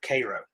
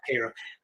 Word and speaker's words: Cairo: I said Cairo. I think the natives pronounce it Cairo. I believe that's how they pronounce it.